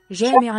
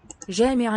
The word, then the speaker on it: جامعة: Final H. That one's really not simply an H. It's an H sort of merged with, fused with a T. Then it's one outcome of the final T, I think, of the older stage of the language.